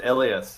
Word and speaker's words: Elias: is that right yeah it's it's pronounced it's pronounced elas yeah okay elas thank you so yeah yeah all right so